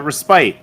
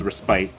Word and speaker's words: respite: warriors uh respite and you guys were like it's respit that's don't worry the attorney that I uh hired uh was also kept saying that after I corrected her it's spelled like respite everything I learned in kindergarten tells me it's respite she was an old